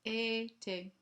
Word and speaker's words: été: It is été because of the accent aigu.